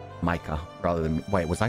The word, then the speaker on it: Micah: far as I know that's the German origin name so it should just be Micah rather than wait was I saying Mika crap I was saying